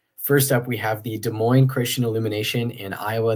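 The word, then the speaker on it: Des Moines: up we have the De Moine Christian Illumination in Iowa there no s sounds at the end of De Moine either word despite the s's that are there I feel like some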